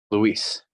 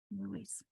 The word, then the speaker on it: Luis: because that's your identity and where your heritage and your family and those around you know you as, you pronounce it as Luis. Luis.